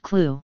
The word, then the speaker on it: CLU: commonly referred to as a CLU pronounced clue the CLU is the